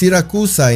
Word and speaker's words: Siracusa: And just to clarify, unlike Syracuse, which is pronounced Siracusa in Italian, San Vito Lo Capo is pronounced exactly as it is written, but with a strong Italian accent.